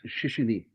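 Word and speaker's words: 谢谢: And uh because it's shishi and it's it's uh that's how you say it. You don't go Yeah. It has to roll off your tongue. It's very quick. Shishi.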